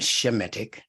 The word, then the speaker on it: Semitic: now as a proto-semitic which should actually be pronounced a shemetic what we call a Semite is actually to be called a shemit according to the actual pronunciation of those words so as a proto-semitic